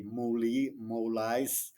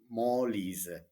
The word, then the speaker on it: Molise: at least to pronounce correctly the names, like Molise, Molise, the main cities of Molise. Maybe an English speaker would say Molise, no, Molise.